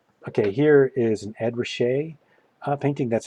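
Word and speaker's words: Ruscha: it's pretty effective okay here is an ED rachet painting that's how you say that last name rachet which is kind of I I remember when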